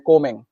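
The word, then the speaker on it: combing: ठीक है, इसमें बी साइलेंट हो जाता है, इसको कोमिंग बोलते हैं, कोमिंग, कोमिंग, आई एम कोमिंग my hair, मैं अपने बालों को कंघी कर रहा हूं।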